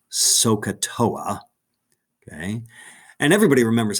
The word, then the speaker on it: SOHCAHTOA: string all those letters together without the dashes s-o-h-c-a-h-t-o-a and that word is generally pronounced sohcahtoa okay and everybody remembers how to say it